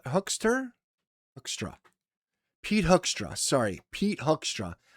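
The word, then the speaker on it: Hoekstra: Pete Hookster? Hookstra.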